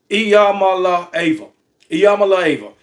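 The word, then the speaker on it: Iamaleava: about the investigation with Tennessee involving Nico Nico eal La AA Yama AA that is how you pronounce his name I found a video where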